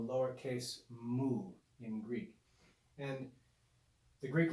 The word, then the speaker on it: mu: to recognize this is the greek consonant mu pronounced mu to make the lowercase simply draw a vertical